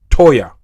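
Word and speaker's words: Toyah: over 30 earthquake hit uh south uh of Texas, a place called uh to toa I spell it to o y a h toya toya Texas toya Texas right next to right next to El Paso basically not far from New Mexico.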